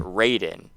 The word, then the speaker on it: Raiden: en and so that was phonetically supposed to be read as riding right but because of English RA I like the word rain people start pronouncing it Rayden so then they just